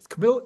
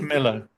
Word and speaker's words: Camilo: um posted Chris cam Camille he pronounced it camil Camilo Camilo he so Chris Camilo you